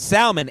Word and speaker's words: salmon: Yeah, almond, salmon, egg. That's how I talk. There's an L in the words. I'm an English major. There's an L in the words, and I'll be damned if I don't pronounce it.